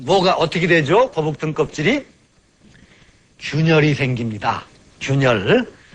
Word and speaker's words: 균열: 걸 잊어먹는 경우가 많은데 거북 귀자를 균열이라고 할 때는 균이라고 읽습니다.